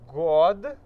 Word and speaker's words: год: градусов в 1938 году снова если бы мы сказали например 2000 2000 год то мы вы произнесли это как год вот но так как у нас есть классная во vue he здесь году то мы не меняем на t здесь меняем год год году вот году итак давайте произнесём